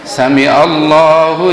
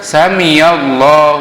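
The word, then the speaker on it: سمع الله: apa perhatian kita adalah bacaan Sami Allah itu pakai Ain kalau kita kadang-kadang dengar memang memang itu kadang-kadang bacanya sami'allahu liman hamidah lain apa artinya mungkin kalau ada ustadzon bisa mengartikan atau juga ada yang membaca Sami Ya Allah liman hamidah pakai ya tidak tepat beda artinya jadi yang tepat adalah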